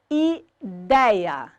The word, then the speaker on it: ideia: A palavra ideia, sílaba tônica, dei.